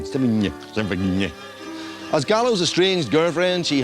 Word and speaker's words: Sevigny: The Brown Bunny co-stars Chloe Sevigny, a girl who would be tons more famous if only people could pronounce her name. Sevigny.